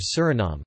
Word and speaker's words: Suriname: In Dutch, the official language of Suriname, the pronunciation is Suriname, with the main stress on the third syllable and a schwa terminal vowel.